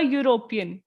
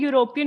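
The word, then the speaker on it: European: university वैसे ही अ यूरोपियन अब हम देख रहे हैं यूरोपियन में तो सबसे आगे ई लगा हुआ है और ई तो एक वावल होता है पर हमने वावल को नहीं देखना हमने यह देखना कि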